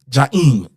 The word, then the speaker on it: Jaheem: Now the normal correct way is Jaheem, but my name is really Jaheem. So for my Haitian Caribbean folks, you'll say it like that.